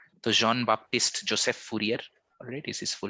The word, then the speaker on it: Fourier: greenhouse effect fourier transform sorry if i'm mispronouncing it yeah fourier is correct absolutely all right so jean-baptiste joseph fourier alright is his full